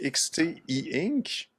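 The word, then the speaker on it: Xteink: Ah, ben écoute, moi, je le prononcerais XT E-Ink. OK? Parce que c'est XT et c'est un appareil en encre électronique, en papier électronique, e-ink.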